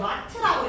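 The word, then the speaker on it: watt: 얘는 전력의 단위가, 얘는 단위가 W라고 적혀 있는데 이걸 와트라고 읽으면 돼.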